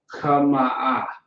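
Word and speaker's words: חמאה: So the word is kama'a. Kama'a. Kama'a is how you will pronounce it.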